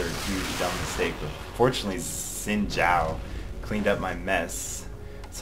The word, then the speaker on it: Xin Zhao: But fortunately, Xin Zhao cleaned up my mess. That's how you pronounce his name.